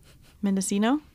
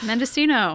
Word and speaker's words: Mendocino: baking in the oven totally yeah that's interesting mendocino sure i pronounced it mendocino earlier and selena laughed at me she was like don't say that on the podcast nina mendocino mendocino it's part of the north coast what